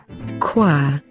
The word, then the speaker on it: choir: And here is how it should be pronounced. Choir.